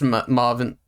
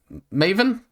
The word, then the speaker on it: Maven: Based Marvin M. Maven. It's Maven, isn't it? Not Marvin. It's Maven. There's no R there.